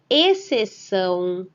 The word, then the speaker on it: exceção: Nessas palavras, o X aparece seguido da letra C. Porém, ao ler, repetir e pronunciar essas palavras, só conseguimos perceber o som da letra C. Nesses casos, o X não tem nenhum valor fonético, ou seja, ele não apresenta nenhum som.